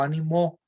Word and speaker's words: animó: Y cuando digo animó, el verbo animó, ahí la fuerza la estoy poniendo al final, ¿verdad?